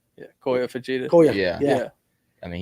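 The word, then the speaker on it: Kyoya Fujita: Kiyoya Fujita. Yeah, Koya Fujita.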